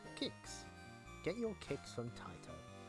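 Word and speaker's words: Qix: him since uh this this flyer helpfully tells you how to pronounce the word kicks right in the bottom pronounced kicks get your kicks from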